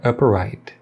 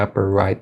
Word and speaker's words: upright: som inicial da palavra upright. E aí fica gorilla with an upright bass, gorilla with an upright bass. E o som de T no final da palavra upright, ele não é pronunciado, né?